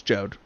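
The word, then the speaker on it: Jeod: It's Jode. His name is Jode. I will check my pronunciation guide.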